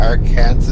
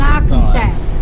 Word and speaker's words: Arkansas: Where's an L in Arkansas? There's no W's in it. But the S at the end is silent, so.